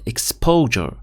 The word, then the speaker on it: exposure: طيب خلينا نشوف الكلمة الواحدة exposure exposure. دائما طلابي الأعزاء في وسط الكلمة أغلب الأحيان الأس واليو لما يكونوا في منتصف الكلمة بننطقهم جا، فبنحكي exposure.